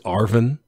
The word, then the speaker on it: ARVN: the republic of vietnam the abbreviation for that is arvin like arvn arvin and the chipmunks yes